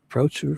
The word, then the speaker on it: Boucher: Ryan Boucher, pronounced Boucher for.